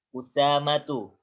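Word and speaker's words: أسامة: Usamatu. Nah, lihat kalau ada kata-kata gini jangan dibaca asama atau isama.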